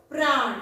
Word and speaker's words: प्राण: तो ये है र, प्राण। देखो उच्चार करते वक्त र का उच्चारण हो रहा है, प्राण।